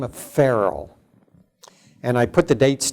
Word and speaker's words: Farel: But a man by the name of William Farel, that's how we would pronounce the first name now in our time, but a man by the name of William Farel.